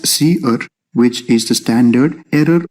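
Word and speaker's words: cerr: outputs then we have c e r r pronounced as c r which is the standard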